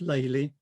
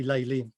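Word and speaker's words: Lely: his father's house and the dutch for lily is laylee it's actually spelt differently it's l-l-e-l-i-e but pronounced laylee i think he probably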